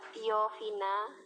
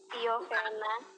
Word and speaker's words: tiofena: Ada furan, ada tiofina, Bukan. tiofena, Tiofen. Kalau Anda benar membacanya, sumbernya itu tiofen, bukan tiofina.